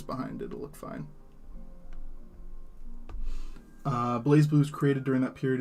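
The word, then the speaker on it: BlazBlue: In Japanese, they omit the Z, and the games are pronounced Bray Brew, but it's Blaze Blue.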